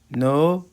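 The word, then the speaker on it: know: وكلمه كول معناها يتصل نو نيو نو نيو نو نيو نو نيو نو نيو نو نيو وكلمه نو معناها يعرف وكلمه نو ونيو الكي سايلنت لا تنطق سبند سبنت سبند سبند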